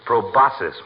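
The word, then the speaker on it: proboscis: A touché him riding one right on his big fat proboscus. Proboscus means nose, doesn't it, doctor? It's probosis, my boy. The C is silent like a husband in a millinary shop.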